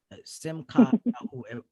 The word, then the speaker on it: Simchah: this is so unique simcon are we saying it correctly you said it correctly all right absolutely but